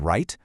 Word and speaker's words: write: We have the silent k in knee, the silent w in write, and the silent b just hiding out there at the end of comb.